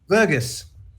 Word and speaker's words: Verghese: Verghese. Oh, okay. Verghese. As in Verghese. Fergus with a V.